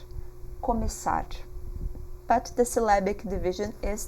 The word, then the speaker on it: começar: So you pronounce it as a double S, começar, começar.